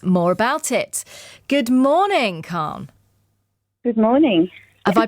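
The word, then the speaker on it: Calne: to tell us more about it good morning Khan good morning have I pronounced your name correctly you have perfectly thank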